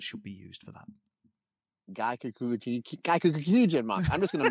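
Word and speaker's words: gaikokujin: let me see if I'm saying this right, Gaikaku Kichin month? Did I get that right? Do you know what? If you put enough syllables into it, Matt, it sounds right anyway. So, yeah, it's Gaikakujin month.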